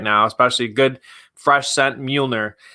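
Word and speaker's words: Mjölnir: especially good fresh scent Mjolnir. I may have pronounced it Mayjorly for about a month, but that's just who I am.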